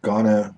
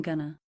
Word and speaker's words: gonna: look at the Ghana the stress is on the first syllable and the second syllable is reduced the earth sound very short let's listen to some examples I'm gonna I'm gonna I'm gonna